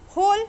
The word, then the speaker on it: whole: Whole, W is silent.